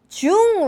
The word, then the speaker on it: 중: When you pronounce it, first of all, I'm going to have you really stick out your lips like me. Ooh, that's a ooh vowel right there. So 중이에요. Like if your lips don't look like this, like you're not pronouncing it right.